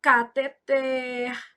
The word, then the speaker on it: cateter: Então, cateter, oxítona, arém.